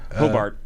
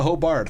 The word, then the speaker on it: Hobart: a hobart uh hobart pronounce it hobart not hobart they'll get on you